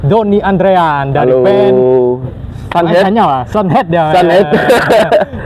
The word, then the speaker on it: Skjønnhet: band Sunhead. Sunhead ya. Sunhead. Bacanya susah Pak, teman-teman. Maklum ya, mohon maaf. Jadi pronunciation yang benar itu Sunhead. Sunhead. Jadi O-nya dicoret itu nggak kehitung gitu.